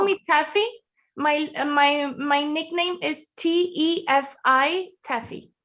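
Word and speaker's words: Tefi: Estefania, actually, but you can call me Teffy. My nickname is T-E-F-I, Teffy. So Teffy. I love this. So is that okay if we call you Teffy?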